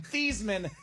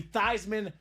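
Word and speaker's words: Theismann: staff said Hey Joe let's change your last name from thieman to thyman so it could be thyman for the Heisman now Joe is a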